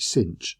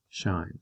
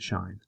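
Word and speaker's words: sinh: so i pronounce it shine and so do most people to be honest so even though it's got the h at the end we pretend it's at the front and we call it shine and again this is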